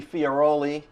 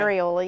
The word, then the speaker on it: Farioli: and Fioroli, which rhymes with ravioli, right? Farioli, yes.